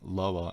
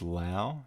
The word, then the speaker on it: Loa: and flip gordon kelly calls out kozlov for mispronouncing lower as lao he keeps saying tang allow which is fun to